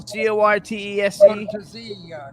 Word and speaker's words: Cortese: Cortese.